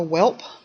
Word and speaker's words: wheal: Then we have the wheal. Some of us in the South tend to pronounce it a whelp.